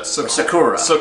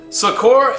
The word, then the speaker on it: Sokurah: Yeah, Sokurah. That's how you pronounce it. Sokurah and the great mighty cyclops.